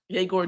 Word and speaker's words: Egor: Igor Demon. It looks like a pretty straightforward name. I was saying Igor Demon for a long time, and then I found out Yegor, and then all these different last names.